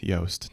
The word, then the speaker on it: Yoast: It's a soft Yoast.